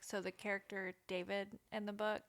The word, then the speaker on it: Da5id: Also, with your name thing, like, so the character David in the book, his name is spelled DA5ID. Nice. And when I saw it, I was like, we just gonna call him David.